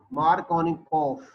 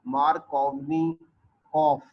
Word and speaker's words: Markovnikov: of the Russian scientist, Markovnikov. So in if any name is ending with V after vowel, it always pronounced like F in Russian language. So this is Vladimir Markovnikov.